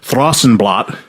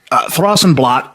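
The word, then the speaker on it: Thrawsunblat: case you don't know, Throsenblot, T H R A W S U N B L A T, was their interpretation of what Thrash and Blast would sound like pronounced by a Northern European.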